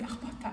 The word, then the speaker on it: Akhbota: and she tells me Akhbota, and then Akhbota, but it was so hard to pronounce. It's easy, we do have the Kha letter, the Kha pronunciation, but I couldn't like